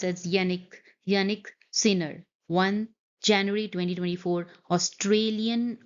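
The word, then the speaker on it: Jannik: Yannick, it's pronounced as Yannick Sinner won January 2024 Australian Open Men's Final.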